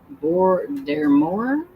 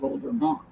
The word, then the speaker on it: Voldemort: Amy says, "I thought I heard somewhere that Voldemort is pronounced Bore Demor." Oh, in the UK, but here in the US, we say old Vermont, which could be because of where they're at.